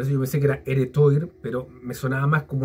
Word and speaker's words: Heretoir: yo pensé que era heretoir pero me sonaba más como una palabra francesa es porque el tuar el toir se pronuncia tuar que viene de una